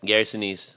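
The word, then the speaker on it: Gary Sinise: And then um of course we have uh is it Gary Senise? Is that how you pronounce it? Yep. Gary Senise.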